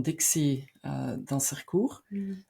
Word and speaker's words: Dixie Dansercoer: Hè, want je bent een vrouw van Dixie Dansercoer. Is dat de juiste manier uitgesproken?